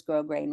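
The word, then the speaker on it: grosgrain: Well, that's what it's technically called is grow grain ribbon. Yeah. And it's spelled like gross gross grain only with one s.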